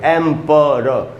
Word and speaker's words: emperor: प के बाद आधा अ है, यानी प पर थोड़ा सा रुकना है। र के बाद भी आधा अ है, यानी र पर थोड़ा सा रुकना है, तो पढ़ेंगे एम्परर।